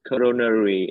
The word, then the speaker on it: coronary: Coronary artery bypass graft. Okay, not nerve, but nary.